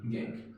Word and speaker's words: gangue: हैं, are known as, इसके spelling याद रखिए GANGUE, गैंग, ठीक है ना।